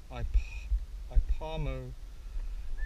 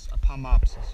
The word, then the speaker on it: Ipomopsis: It is called Ipomosis. I can't pronounce that. Ipomopsis, yes.